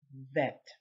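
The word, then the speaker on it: ב: a v because if it has a dot it would be bet then there is the same letter without this little dot and that one is called vet okay gimmel represents number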